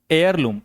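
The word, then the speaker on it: heirloom: उसे बोलते हैं एयर लम। एच इ आई आर L double O एम एयर लम। ठीक है? हेयर नहीं होता।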